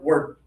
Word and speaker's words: word: word word That's easy, okay? And it's not actually even word, it's word. Word like rhymes with bird, okay?